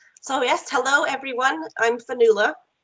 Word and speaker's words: Fionnuala: asked hello everyone I'm vanilla I don't mind if you mispronounce my name but I know some people like to get it right so I'll say it again vanilla I'm a lecturer at